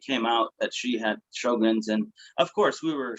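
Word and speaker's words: Sjögren's: way it's spelled, but it's really just show and like a grin, it's Sjogren's.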